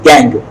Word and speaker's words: gangue: This the word is pronounced as गैंग, जैसे GANG होता है इसी तरह से, लेकिन स्पेलिंग थोड़ा अलग है, GANGUE, but pronounced as गैंग।